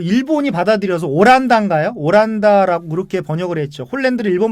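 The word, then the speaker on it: オランダ: 오란다라고 그렇게 번역을 했죠. 홀랜드를 일본 발음은 오란다라고 그래요?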